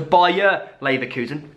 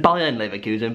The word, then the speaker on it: Bayer Leverkusen: But we did watch an insane game, 3-2 in the end to Bayer Leverkusen. Football Twitter absolutely rinsing me because I said Bayern Leverkusen.